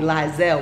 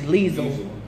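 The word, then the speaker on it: Liesl: call me well they call me lies L which is that not how you pronounce it it's actually Lisl but then I get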